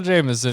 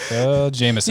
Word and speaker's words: Jamesson: the Jameson real hard Jameson you know what it is is I knew it was Jameson but I wasn't sure it's pronounced Jameson or like James son or something oh yeah I